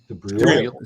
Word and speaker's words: Dubrul: Am I pronouncing that wrong, man? Dubril. Say it again. Dubril. Dubril. Eebreel. Look at it like that.